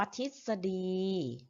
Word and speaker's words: ทฤษฎี: คณิตศาสตร์ อย่าง นี้ ค่ะ ทฤษฎี นะ คะ อ่าน ว่า ทิดสะดี ตอบ ๆ หรือ ออก